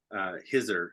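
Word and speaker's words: Khidr: tales and stories about, Kidder, Hizr is kind of how it's said, was the green man,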